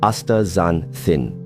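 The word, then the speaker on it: astaxanthin: It's called aanthin pronounced a zanthin.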